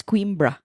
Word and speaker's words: Coimbra: It's pronounced as Coimbra.